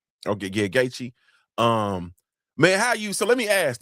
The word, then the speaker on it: Gaethje: Yeah, that's the main event, Gaethje. Okay, yeah, Gaethje.